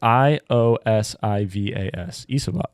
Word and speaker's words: Iosivas: Andre Isloves, something like that. Is that It's something like I can't pronounce it. Isavas? Isavas, something like that. It's Iosivas. Iosivas?